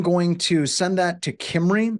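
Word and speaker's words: Cymru: And I'm going to send that to Kimry. It's Welsh. That's how it's pronounced through their who is service.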